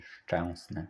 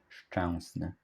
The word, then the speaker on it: Szczęsny: say Szczęsny, SZ-CZ, Szczęsny. I hope this helps you